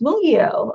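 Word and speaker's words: Mungyo: Oh, it's pronounced Mungio. Oh, okay. Thank you. That's always good to know. Mungio. I'll have to try to remember that. Mungio. I've always said Mungio.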